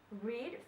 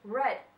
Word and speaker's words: read: this one for read even though it doesn't change its form but how you pronounce it how i pronounce it is different read for its root word or in simple simple present tense and also read when it is in past and home so read